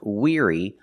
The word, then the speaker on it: weary: The word is pronounced weary, not weary. Pronunciation weary using the long e sound like green beans together with the r ear. The sound like ear.